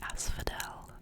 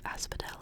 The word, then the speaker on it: asphodel: the as Asphodel asphodelus I think it's like Asphodel I'm assuming it's supposed to be like an F pronunciation for the pH but it says its